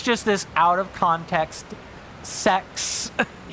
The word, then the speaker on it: sex: The Latin number for six is literally sex. Like straight up, that's just that's how you say it.